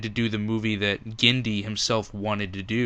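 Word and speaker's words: Genndy: of me do you know how to actually pronounce it so I'm not butchering it gindi Tartakovsky tartakovsky now what is that a I'm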